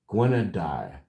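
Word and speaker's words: Gwenn-ha-du: Oh, it gives me the pronunciation here behind it. Okay. Gua guadi. Guadai, which means white and black.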